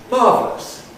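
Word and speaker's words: marvellous: Well, Greeks or Turks or various other Arabs, learners of English, often think that o u s means oose, but it doesn't. It's just a way of spelling s with a schwa. So, this word is pronounced marvelous or marvelous.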